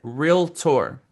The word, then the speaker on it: realtor: Uh what usually you say is real estate agent and you have like a three syllable word and there's some extra consonants and vowels in there. And you're not alone, Raul. Most people uh have this expanded vocabulary when it comes to this two syllable word.